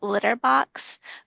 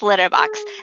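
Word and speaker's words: Lytyrbox: Um and so Claude lives on a planet called Litterbox, but it's spelled L Y T Y R B O Ks. Um and it's but it's Litterbox.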